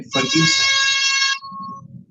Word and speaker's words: फर्ग्यूसन: बड़े इतिहासकार हुए हैं फर्ग्यूसन। फर्ग्यूसन के बारे में थोड़ा सा जानते होंगे हम लोग कि पुणे में उनका नाम पर कॉलेज है, लेकिन उसका फ्रेंच उच्चारण है फर्ग्यूसॉन।